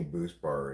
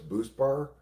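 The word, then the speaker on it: Buspar: What's BoostBar? It's spelled B U S P A R and it's an anti-anxiety drug.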